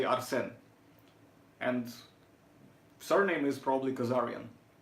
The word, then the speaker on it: Arsène: Like, try to kind of see if you can do the more French style of pronunciation when you put the stress on the second syllable. So you say Arsène.